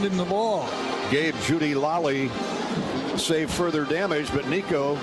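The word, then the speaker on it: Laaly: Gabe Judy Lally, or Lally, L-A-A-L-Y, Lally, pronounced Lally, got his mitts in there and knocked it away.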